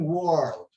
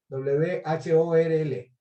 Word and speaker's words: whorl: Verticillate, verticillate con doble L se escribe en inglés, o también whorl, W-H-O-R-L, whorl, eso es verticilado.